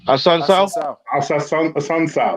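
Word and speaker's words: Assunção: I can never pronounce his name. Ola, say his last name. Hassan Sao, that's the one.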